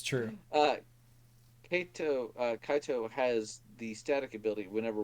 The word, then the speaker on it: Kaito: Kaito, how do you pronounce that? Kaito. Kaito.